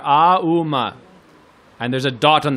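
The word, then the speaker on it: ॐ: ooh ma oh oh it starts from the bottom of the throat ah and then woo in the middle of the mouth and then ma ohm like that right so it's three syllables together ah uma and there's a dot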